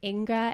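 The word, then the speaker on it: Inge: I think Inga is how you pronounce this, I-N-G-E.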